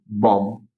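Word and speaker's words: bomb: हम यहाँ देख सकते हैं, सबसे पहला BOM, और ये B पढ़ेंगे क्या हम इसको? बॉम्ब। B का साउंड नहीं आएगा।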